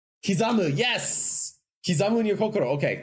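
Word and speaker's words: 刻む: Kizamu, yes!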